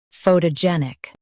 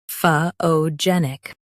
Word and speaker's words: photogenic: US says pho, UK says pho. Stress gen. Photogenic. Photogenic.